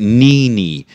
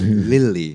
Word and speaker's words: Lily: when I first came it was saying Nini but it's not no no it's Lily Lily Lily Lily Miranda